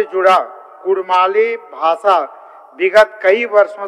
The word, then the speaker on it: कुड़मी: विभिन्न विद्वानों के मतानुसार कुड़मी समुदाय का नाम उच्चारण हार्ड डी या सॉफ्ट डी यानी र अक्षर के साथ स्पष्ट रूप से कुड़मी के रूप में एवं इनके मातृभाषा नाम